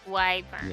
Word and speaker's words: wyvern: But wyvern Yeah. is how we pronounce it.